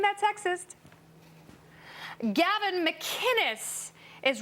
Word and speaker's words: McInnes: McInnes, it's a hard C.